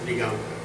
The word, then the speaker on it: Diganvker: Friends, my name is Diganvker. It is pronounced as you read, you will pronounce fine.